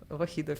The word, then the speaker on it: Vokhidov: I was ready to go to the game between Lanier and I'm going to mispronounce his name, so excuse me. Shamsiddin. Shamsiddin, yes. Shamsiddin. Vokhidov, yes.